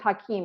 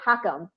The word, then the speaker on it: Hakeem: Because as I've said on previous shows, my maiden name is Hakeem, and everybody used to say Hakam, because that's what it kind of looks like, right?